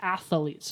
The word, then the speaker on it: athletes: that defensively they have athletes three syllables athletes athletes speaking of an athlete